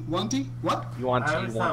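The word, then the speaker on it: yuan-ti: how do you say Yuanti? Wanti? What? You want I to? always You thought want it to? was One Yawn. T. Yeah, I always pronounced it Yanti. It's Like I Yankee. think it's Yanti.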